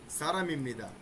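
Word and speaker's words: 사람입니다: আগে হবে ই তারপরে বি ইম নি দাদা সারা মিমনিদা এটার উচ্চারণ আমরা এখন কিভাবে করব এটাকে আপনাকে চোখের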